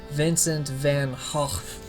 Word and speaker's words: Vincent van Gogh: his name even though it's actually pronounced as Vincent van Hoff I'm not making that